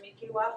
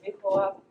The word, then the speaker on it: mihkiwahp: people spell it there's different dialects that people will pronounce the word Miku up I've heard people say mik up um and uh in different ways but this is how how I say it and so hold